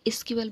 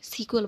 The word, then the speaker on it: SQL: সো কিছু মানুষ এটাকে SQL বলে, কিছু মানুষ এটাকে সিকুয়েল বলে। While there is no right and wrong the way to pronounce it, you can choose one of them.